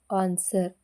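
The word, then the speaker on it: answer: ಆಗಿರುವಂತ ಪದಗಳುಡಬ್ ಆರ್ ಓಎನ್ಜಿ wrong ಅಂದ್ರೆ ತಪ್ಪುಎನ್ಎಸ್ಡಬ್ಇ ಆರ್ ಆನ್ಸರ್ ಅಂದ್ರೆ ಉತ್ತರ ಎಸ್ ಡಬ್ಲ್ಯೂಓ ಆರ್ಡಿ ಸೋರ್ಡ್ ಅಂದ್ರೆ ಖಡ್ಗ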